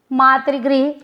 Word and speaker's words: मातृ: वो क्या बोलते हैं, मातृ को मात्र बोल देते हैं, बहुत बड़ा अंतर है।